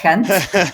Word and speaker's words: Gent: It was a bruises because uh the team in Kent, that's how you pronounce it by the way, Kent.